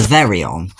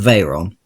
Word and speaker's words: Veyron: So they were bought out in 1998 by VW, who set to work making the Veyron. Or at least that's what Top Gear pronounced it as, it's actually the Veyron.